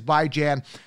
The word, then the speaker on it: Bijan: this signed helmet by by Jan Robinson AKA Bijan Robinson however we want to pronounce it the right way is by Jan if you want to buy Jan signed helmet